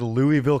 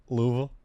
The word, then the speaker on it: Louisville: Louisville. That's if you don't say Louisville, it's actually, you said it wrong. It's not Louisville. It's Louisville. Well, you gotta say like there's peanut butter in the back.